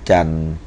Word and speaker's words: จันทร์: ฮะ ดู นะ ครับ ตัว ท ทหาร ร เรือ การัน นะ ครับ วัน จันทร์ ดู นะ ฮะ นะ วัน จันทร์ นะ ครับ ต่อ ต่อ